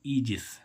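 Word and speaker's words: aegis: ऐसे ही हम इसमें देखें ए ई जी आई एस, इसको क्या पढ़ेंगे ईजिस। क्या पढ़ेंगे गाइज, ईजिस। ईजिस मीन्स क्या होती है, छत्र छाया। ए ई का उच्चारण क्या हो रहा है, देखो इसमें बड़ी।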